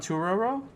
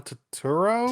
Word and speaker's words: Turturro: John Turturro.